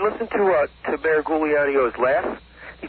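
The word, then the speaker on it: Giuliani: with uh mayor New York mayor Rudy Gano Gano that's the proper pronunciation yeah oh yeah well the mayor must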